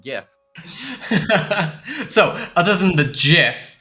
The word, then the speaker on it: GIF: to that is hey the creator of Star Wars can say that Han didn't shoot first it doesn't really matter what the Creator says and it's pronounced gif so other than the